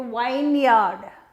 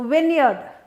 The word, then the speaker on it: vineyard: you make it into wine yard wine yard that's what you do and it's wrong it's not wine yard it's a vineyard it's vineyard vineyard but